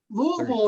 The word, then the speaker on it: Louisville: It's Louisville. It's like, how do you say Purcellville? It's like we got the same ending. Like me and Scott, like our towns, you say it exactly the same.